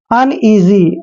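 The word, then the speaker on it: uneasy: बहुत ही इंपोर्टेंट है यू एन इसको पढ़ते हैं हम अन यन नहीं पढ़ना है अन पढ़ना है अन और ई ए एस वाई ई ए का उच्चारण हम ई करते हैं एस वाई को जी पढ़ेंगे ध्यान रखिए जब भी एस से पहले ए आता है तो एस का उच्चारण ज होता है अनजी अनजी होता है बेचैन बेचैन यू आर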